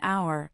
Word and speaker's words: hour: Since a silent h is followed by a vowel sound, we say an hour, an honest man.